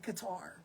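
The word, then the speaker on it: Qatar: I think we say Qar, but it's Cutter. I think that's how it's pronounced.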